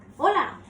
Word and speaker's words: hola: pronounced as o so H is actually silent in Spanish so even though we write the letter H we do not pronounce it so for instance we all know hola so we do not